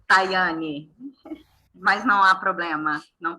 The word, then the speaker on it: Tayane: Por favor, e o meu é Tayane, mas não há problema, não tem problema.